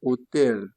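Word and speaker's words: hotel: Donant l'esprit, il faut considérer que le O, le H là n'existe pas. Commencer par prononcer le O directement, on a dit qu'il est souvent muet. Donc, on aura hôtel.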